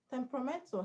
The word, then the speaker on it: temperamental: Temperamental has a stress on men, which is second syllable from the end.